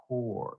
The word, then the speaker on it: Kaur: That's how she pronounces her name. Kaur. C O R E.